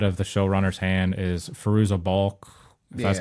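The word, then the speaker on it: Fairuza Balk: you know out of the showrunners hand is firoozeh bulk that's how you say her name from American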